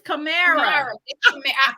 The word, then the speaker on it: Camara: That's Camera. It's Camara. That's what I said about Camara. It's Camara. Camara.